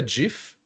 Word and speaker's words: GIF: life lesson number one but it's GIF it's Jeff because it's a shot for giraffe so that's it yeah